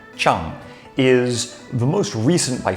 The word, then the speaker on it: Chang: football launched in 1995 Chang or it's probably pronounced Chong is the most recent